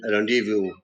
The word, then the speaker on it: rendezvous: Cupboard P is silent, cupboard, or X is silent in Xerox, or Z is silent in rendezvous.